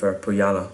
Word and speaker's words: Põhjala: But yeah, really like how this one goes together, and it's another thumbs up from me for Põhjala once again.